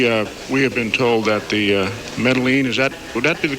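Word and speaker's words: Medellín: We have been told that the Medellin, would that be the correct pronunciation? Medellin.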